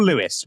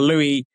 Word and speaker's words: Louis: to someone like a Louis Rees. Is it Louis or Lewis? How do you pronounce his name? I said Louis. We go either Louis. Yeah, Lewis, I think normally Louis, is what we...